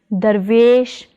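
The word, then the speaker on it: ਦਰਵੇਸ਼: Together they are pronounced as Darvesh, Darvesh.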